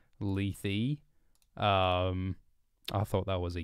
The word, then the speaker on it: Lethe: we're learning things today Cardinal doomsday is angry at my pronunciation of leaf apparently it is Lethe I thought that was